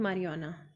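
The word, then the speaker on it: marijuana: ये देख सकते हो ना, New Zealand votes to legalise euthanasia but नॉट मारिजुआना, तो ये है, ठीक है। जे इज साइलेंट।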